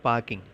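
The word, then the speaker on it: parking: நோ பார்க்கிங். பார்க்கிங் அப்படிங்கிற வார்த்தையில் ஆர் அப்படிங்கிற எழுத்தை சைலண்ட்டாக உச்சரிக்கலாம். Okay, no பார்க்கிங். ரொம்ப அழுத்தம் கொடுக்க தேவையில்லை, ஸ்ட்ரெஸ் பண்ண தேவையில்லை.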